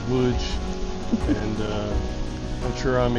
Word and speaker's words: Łódź: So anyway, we come downtown and we walk down this famous street here in Loads or how it's pronounced here by the locals Woods.